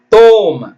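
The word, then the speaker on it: thumb: ஐ எம் பி Lim ditch O எம் பி தோம் சி க்கு sound இல்லைங்க இந்த இடத்துல சி பார்த்தீங்கன்னா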